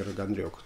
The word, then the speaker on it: Рагнарёк: принципе а таком процессе который называется раганрек или роганрек там ударение плавающий но по-русски будет удаление на ё все-таки рагнарёк то есть орган лег